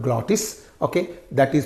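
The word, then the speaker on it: glottis: the the space between vocal cords is called glotis okay that is pronounced from there so here air flow is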